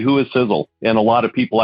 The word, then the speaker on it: Sisel: there in the name sizzle is spelled s-i-s-e-l for a lot of people they spell it s-i-z-z-l-e and i'll tell you what it's all it's not correct so s-i-s-e-l but the first letter